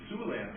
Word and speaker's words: Siouxland: Or I guess maybe Siouxland might sound bad for an attorney. Yeah, it's spelled S-I-O-U-X, not S-U-E.